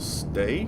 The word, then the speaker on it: Ste: is the Armored Ramps by Uncle Stay, S-T-E. That's how you pronounce it.